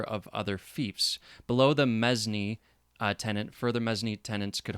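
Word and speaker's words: mesne: holding from the tenant in chief was a mezni m-e-s-n-e tenant generally a knight or baron who is sometimes a tenant in chief in their capacity as holder of other fiefs below the mezzny tenant further mezzanine tenants could hold from each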